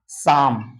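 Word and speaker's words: calm: हैं बाम फिर है सी ए एल एम इसको क्या पढ़ते हैं साम एल उसके बाद है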